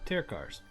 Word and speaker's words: Tirkar's Travelers: So that's how you say it, Terkars.